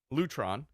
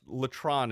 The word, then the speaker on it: Lutron: TR o n Lutron Letran Lutron how do you say it well my father worked for the company Diddy his brother was the CEO okay so that was Lutron Lutron I guess Letran is not proper it's a family-owned business